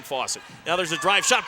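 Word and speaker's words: Fausett: Same pronunciation, different spellings of the name. F-O-S-S-A-T for Cole Fawcett. F-A-U-S-E-T-T for Peyton Fawcett.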